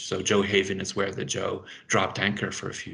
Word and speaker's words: Gjøa: Gjøa, which is called, generally we pronounce it the Joe in English, so Johaven is where the Joe dropped anchor for a few years.